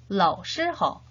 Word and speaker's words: 老师好: 눈으로 잘 익히면서 같이 따라 발음해 보도록 하겠습니다. 老师好, 老师好, 老师好.